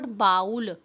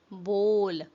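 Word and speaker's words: bowl: इट्स नॉट बाउल, इट्स बोल, बोल।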